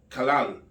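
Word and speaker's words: כלה: Kalal. Es un sustantivo femenino, se pronuncia kalal.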